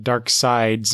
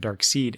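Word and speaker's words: Darkseid: dark seed uh whenever I saw dark dark side's name printed I you know in my head I pronounced it dark seed until I uh watched the um the Super Friends Legendary Legendary superpower show from 1984 when uh I first heard it pronounced dark side and that took I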